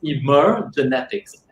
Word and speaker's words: Emergenetics: When we talk about the word emergenetics, unfortunately, it can be a little bit difficult to pronounce, but it's actually pronounced as emergenetics.